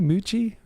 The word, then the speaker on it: Mucci: CC is pronounced Yeah. CH. Like CC is like CH.